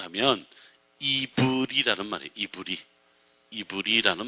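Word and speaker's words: עברי: 히브리어가 아니고요 히브리 하는 말에 원래 히브리어로 직접 발음을 하면 이브리 아는 말이에요 이브리 이브리 아는 말이 이브리 이브리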